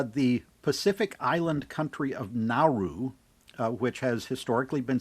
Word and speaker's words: Nauru: But they said that this is closer to the pronunciation that the natives have, Nauru.